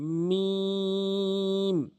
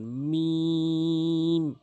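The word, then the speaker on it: ميم: লাম লাম এরপরে আসুন মিম সহজ মানে দুই ঠোটের শুকন অংশ দুই ঠোটের যে শুকন অংশ রয়েছে মিলিত করে উচ্চারণ করবেন মিম মিম এভাবে উচ্চারণ করবেন।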